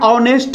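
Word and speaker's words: honest: जैसे आप लिखते हैं ऑनेस्ट मैन, ऑनेस्ट, हम बोले कि यह बड़ा ईमानदार आदमी है, ऑनेस्ट।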